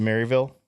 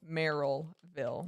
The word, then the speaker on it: Merrillville: Is it Maryville? Merrillville.